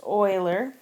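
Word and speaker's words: Euler: named Oiler it looks like uler but it's pronounced Oiler and Oiler challenged us with a bridge problem asking us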